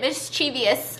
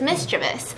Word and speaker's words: mischievous: it's mischievous and i'm pretty sure i've pronounced it mischievous a bunch of times too but it's mischievous mistress this you're